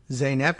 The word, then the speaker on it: Zeynep: silent until zeynep tufetsky oh look a pronunciation guide pronounced zainab yeah we got that to feck chi yeah all right excellent